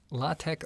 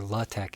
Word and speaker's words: LaTeX: First, the pronunciation LaTeX, the core is that tech, the T-E-X. You can, LaTeX or LaTeX is fine, as long as you get that kind of like K sound on the tech.